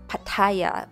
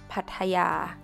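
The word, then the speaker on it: พัทยา: like any Thai Words We don't stress or emphasize any syllables not pataya but Simply is พทยา พทยา พทยา Another City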